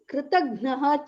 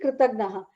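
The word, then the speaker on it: कृतज्ञ: Again, how pronunciation is very important. Kritagna alpa prana, which is not the alpa prana, it's actually the jna, jnanam jna, right?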